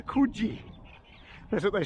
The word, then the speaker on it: Coogee: But anyway, I said I lived at, I mentioned Coogee, and they immediately corrected my pronunciation. It says Coogee.